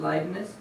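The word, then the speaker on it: Leibniz: live - okay so different people pronounce it differently that's how I pronounce it likeness and these two guys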